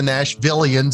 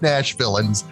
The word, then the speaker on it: Nashvillains: group's name this time it's not the nashvillians it's just Nash villains and yeah once you